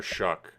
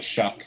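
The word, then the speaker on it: Shough: I believe it's Tyler Shuck, like shucking. Like when you like shuck an oyster.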